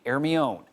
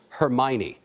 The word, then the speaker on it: Hermione: The British call it Hermione, but the French pronounce it Hermione.